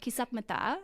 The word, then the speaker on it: Kisapmata: Today, we're going to talk about Kisapmata, and I just want to make sure I am pronouncing that right, right?